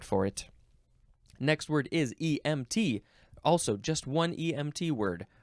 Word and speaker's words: EMT: and it gives emphasises so it says EMT you have to emphasize the T there's you cannot you